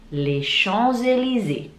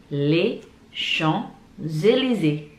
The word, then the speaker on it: Champs-Élysées: Dan cara bacanya La Tour Eiffel. La Tour Eiffel. Eiffel. Ada juga les Champs-Élysées. Les Champs-Élysées.